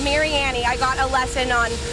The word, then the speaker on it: Mariani: of Mary Annie and I know we all call it Mariani but it's Mary Annie I got a lesson